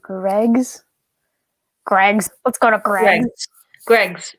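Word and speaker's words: Greggs: greg's what's going on greg's is literally pronounced that way where the spoons is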